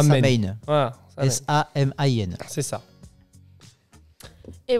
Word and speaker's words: Samhain: Donc ça se prononce, désolé pour la prononciation, c'est Samhain ou Samhain. Samhain.